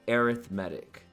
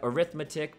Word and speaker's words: arithmetic: a special name that special name is called arithmetic now i know this word looks like arithmetic but when we're talking about sequences we pronounce